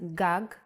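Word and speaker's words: גג: In Hebrew, the vowels are often not written. You would know that this word is pronounced gag because it has been taught to you before.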